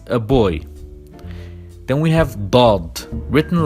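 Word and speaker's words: ض: Then we have Dad, written like Sad, but with a point on top, and we pronounce it Dah. Also the sister of Dal, but a bit stronger.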